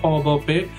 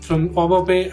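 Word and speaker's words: Au Bon Pain: a French word, so I'm pronouncing it as au bopé. It's spelled as A-U-B-O-N-P-A-I-N, and I just like applied there.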